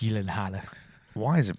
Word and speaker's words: Gyllenhaal: But it's just pronounced Gyllenhaal. Why is it pronounced Gyllenhaal? Gavin's pretentious. Because it's This is like your Smaug thing. It's Nordic, so it's in that whatever country it hails from. It's pronounced Gyllenhaal.